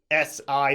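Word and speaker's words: 死: it's the only character in Chinese that is pronounced si third tone su and it means to die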